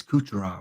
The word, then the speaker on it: Kucherov: I know it's Kucherov. If you're watching for the first time, it's just how I say his name.